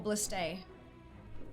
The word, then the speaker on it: ballistae: Is it ballista or ballistae? Is it a plural or a singular? It's spelled A-E. Oh, that's A then. Ballistae.